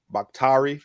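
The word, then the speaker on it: Bakhtiari: the the packers offensive line they have david bakhtari and that's how you say his name uh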